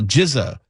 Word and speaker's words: GZA: If you are a fan of Wuang you may know what Rizza and you know Jiza which is RZA and GZA.